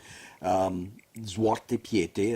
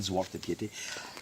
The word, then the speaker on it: Zwarte Piet: they still celebrate me arriving with my student, Zwarte Piete, as they pronounced it, Zwarte Piete.